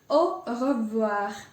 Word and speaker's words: au revoir: Even though it doesn't start with R, I've chosen this word because it has 2 R's in it, and both of them are pronounced. So you will really have to put an effort to try and pronounce the word.